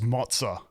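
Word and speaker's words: Moze: go for it's that m o z e spells mozah oh that is weird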